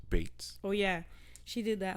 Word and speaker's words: Beetz: Also, just quick update: it is pronounced Bates.